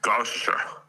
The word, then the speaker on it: Gloucestershire: You know how to pronounce it. Stop pretending to be an American. Gloucestershire.